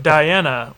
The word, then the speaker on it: Dayana: Here's a review from Diana, which is spelled Dayana.